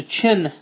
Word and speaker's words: Qin: what's known as the Chin Dynasty it is spelled q i n but it's pronounced chin and if that doesn't